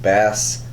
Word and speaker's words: Basilisk: Next up from Boom Studios, we got Basilisk, and that is pronounced Basilisk. So many people can't say that.